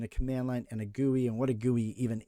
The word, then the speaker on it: GUI: Or what's also called a graphical user interface, which GUI, which we actually pronounce as GUI.